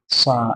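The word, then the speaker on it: ث: বা, বা, তা, সা, সা, এটা একটু উচ্চারণটা কেমন হবে দেখো, সা, জিভটা একটু উপরের দাঁতের দিকে লাগাতে হবে, উচ্চারণটা ঠিক ওরকম ভাবে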